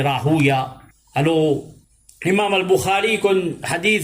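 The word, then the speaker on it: راهويه: Alors, du bon qui nous connaît, ban muhaddithin jamais pas prononce Ishaq ibn Rahawi. Ban muhaddithin de Dabtul, ça c'est Rahuya.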